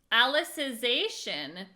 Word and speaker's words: Alicization: Alicization?